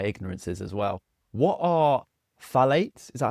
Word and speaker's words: phthalates: What are phthalates?